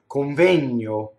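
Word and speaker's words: convegno: Well, in Italian, when speaking fast, without even knowing it, would go coŋvegno. Now, what just happened there? If I slow that down, coŋvegno.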